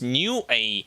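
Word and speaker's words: Nue: read anything about new it's actually pronounced they have written it specifically pronounced new a not newy but new a okay yokai mira yeah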